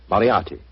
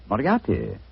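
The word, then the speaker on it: Moriarty: I'm afraid I'll have to begin calling it the way it looks. M O R I A R T Y. Moriati. Moriati. I shall remember that name.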